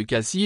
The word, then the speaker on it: Cassis: exemple aussi à marseille ne prononce pas les finales du nom de la ville que ce soit en français ou en provençal localement on dit que le fait de prononcer le s final ed a remarqué facilement ceux qui ne sont pas de la région le s final n'est pas prononcé dans la variante local